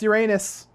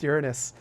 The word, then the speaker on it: Uranus: comments that's why I'm saying Uranus it's not pronounced Uranus even though it's spelled that way it's pronounced Uranus I don't you know whoever would whoever came